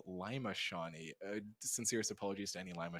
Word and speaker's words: Lima Shawnee: handedly and very easily Lio sha unfortunately pretty one-sided from this from what it seems like definitely definitely my apologies I've been mispronouncing this wrong all day it is Lima shaie sincerest apologies to any